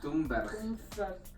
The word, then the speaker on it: Thunberg: Es como un encabezado bastante importante, y para puntualizar, Greta Thunberg, o como se pronuncia en sueco, Thunberg.